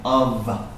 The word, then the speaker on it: of: school of thought and this F here sounds like a V of School of in fact this word sounds like an AV of school of thought school